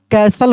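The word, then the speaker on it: castle: Listen C एस टी एल ई T silent रहेगा। इसको कैसल पढ़ेंगे।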